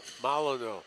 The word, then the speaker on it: Molyneux: So Malino, is that the proper pronunciation? Molyneux, Malino. French.